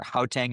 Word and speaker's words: Gauteng: we were up in, I always pronounce this poorly, but it's spelled Gauteng is the name of the province in South Africa, Gauteng or Gauteng, I think they pronounce it.